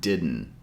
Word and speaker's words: didn't: on the word didn't notice how we don't pronounce both D sounds with the hard D sound as in day we pronounce the first D sound with the regular D and the second D because it's followed by an n Sound we pronounce it as a gladle sound didn't to make this